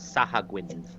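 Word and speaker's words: Sahuagin: You would recognize them as Sahagwins. That's how I pronounce it. I don't care if it's right.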